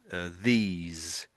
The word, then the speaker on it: these: So because there's an E there, it makes that E say an E. So it would be the e these. So in other words, it becomes a long e.